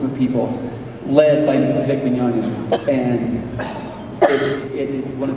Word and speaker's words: Mignogna: The pronuncia in Italiano si dice Mignogna. And he still doesn't know how to pronounce it.